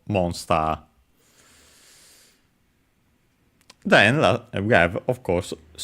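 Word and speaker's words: モンスター: case it's as expected, accented on the mo, on the first syllable, monster.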